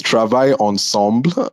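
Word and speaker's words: Travail Ensemble: it correctly um so it's Travi Ensemble um it is a French phrase that means working together and really it's a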